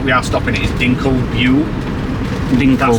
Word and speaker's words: Dinkelsbühl: The first major stop that we are stopping at is Dinkelsbühl. That's how you pronounce it.